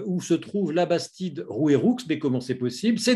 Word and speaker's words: Rouairoux: 23 mars à Labastide Rouairoux ceux il y a bien un X il faut prononcer le X moi le Ch'ti je